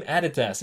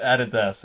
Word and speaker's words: Adidas: Okay, are you Team Nike or Team Adidas? And yes, here in Australia, we pronounce it Adidas. Okay, I know you American folks call it Adidas, but like, I don't know, okay?